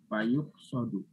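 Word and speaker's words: فَيُقْصَدُ: Tapi kok ini dibacanya fayuk sodu? Nah, ya. Fayuk sodu. Kenapa? Majhul. Karena dia majhul ya. Karena majhul. Fayuk sodu. Jadi dibaca pasif.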